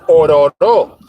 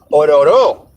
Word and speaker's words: Ororo: The correct way to pronunciate that is Ororo. Ororo.